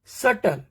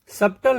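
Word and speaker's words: subtle: है उसको देखते हैं बी के बाद अगर टी आता है तो ऑल टाइम बी का प्रोनाउंस नहीं करना है बी को साइलेंट रखना है बीटी का कॉमिनेशन अगर बीटी का कॉमिनेशन हो जाए तो हमको बी नहीं बोलना है डायरेक्टली टी पे जाना है डेट डाउट सटल बी नहीं सबटल नहीं शटल अब देखते हैं सी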